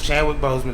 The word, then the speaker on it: Chadwick Boseman: So, it was Chadwick Boseman.